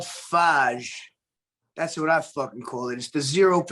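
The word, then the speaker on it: Fage: they supposedly pronounced fire but it's called faj that's what i [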